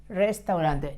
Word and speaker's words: restaurante: Restaurant, restaurante, restaurante, with a double R sound at the beginning and a soft R sound in the second restaurante. In the second R, el restaurante es.